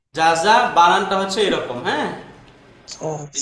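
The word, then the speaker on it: جَزَى: জাযা বানানটা হচ্ছে এরকম, হ্যাঁ এই যে জাযা, এরকম, এই যে জাযা।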